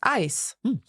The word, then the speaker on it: Eis: But in German, EI always has that sound. Genau. EI is always pronounced I. So for example, we have das Eis.